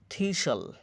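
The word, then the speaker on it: thistle: ন্যাশল বাধা বাসাবাধা হাস্টাল হাসল হাসল থেলাঠেলি ব্যস্ততা থিসল কাটাযুক্ত উদ্ভিদ ব্যতিক্রম এপিস্টল সিথি ব্রিস্টাল শহরের নাম এটা ব্যতিক্রম থাকবে।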